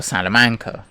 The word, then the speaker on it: Salamancer: This fella is the fire salamancer. Yes, that is as it's pronounced. Salamancer, not salamander. They have the K instead of the D apparently.